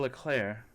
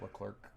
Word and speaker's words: Leclerc: Where it was finally, after years of mistakes and mishaps, Charles Leclerc, that was my French pronunciation. It's not Leclerc.